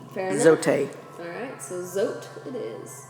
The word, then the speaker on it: Zote: Okay, so either Zoti or Zote. No, it's Zote because Zote would actually have like little thing above the E. Fair enough. Zote.